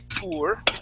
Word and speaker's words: poor: We say pour. Okay, using more of an oo sound.